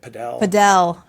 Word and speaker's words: Padel: Padel. Yes, padel. Someone corrected me. No, I'm just going to, like, back to your putting your bread underneath it. Yeah. It's called paddle.